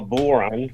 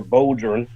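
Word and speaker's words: bodhrán: And I play Irish goatskin drum, which is called a Buren or Bodron, how it's Mm-hmm.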